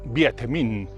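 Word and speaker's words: Việt Minh: que resumidamente reducido y en vietnamita se pronuncia 7 min el vietminh terminó ganando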